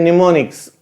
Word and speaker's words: mnemonics: Next comes to the mnemonics, M is silent, mnemonics.